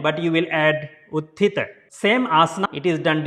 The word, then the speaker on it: Utthita: Utthita Maalaasana. Don't say Utthita, it's a Utthita Maalaasana.